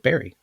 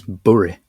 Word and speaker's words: bury: And I know berry is pronounced differently, but if you spell out B-U-R-Y in English, it's the word berry. If you're from the south, if you're from the north, it's burry.